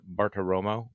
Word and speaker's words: Bartiromo: this the president calls into and correct my pronunciation here that maria bartoromo show yeah that's right the money honey wow